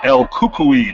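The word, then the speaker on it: El Cucuy: is the ultimate fighter she's the 13th winner el kukui that's how you pronounce that word okay herb beans back is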